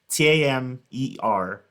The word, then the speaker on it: Tamer: Tamer, just like hammer, but with the T.